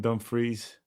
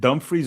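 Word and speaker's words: Dumfries: Is it dumbfreeze or dumb fries? I think it's Dumbfreeze, but that's I don't know actually. I don't think it's fries. I think fries is the American way of pronouncing it.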